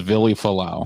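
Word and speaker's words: Vili Fualaau: Do you know how to pronounce this guy's fucking name? Falau. His name was Vili Falau.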